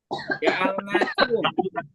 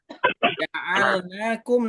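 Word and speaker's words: جَعَلْنَاكُمْ: Ja'alnakum. Sekarang ke ja'alnakum. Naknya ada fathah berdiri. Ini ada suaranya mantul nih. Di loudspeakernya dikurangi dulu. Baik. Ja'alnakum.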